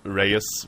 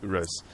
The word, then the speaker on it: Reus: how to pronounce it many people call it Reus because that's like an English pronunciation but it's B it's it's actually Rose what it is is